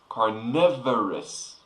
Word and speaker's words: carnivorous: very cool now carnivorous this is a different form of the word carnivore but pay attention it's pronounced very different car carnivorous so carnivore is a